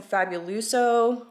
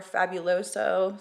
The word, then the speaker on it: Fabuloso: one so I'm also going to bring some fabuluso or Fabuloso somebody told me I said it wrong in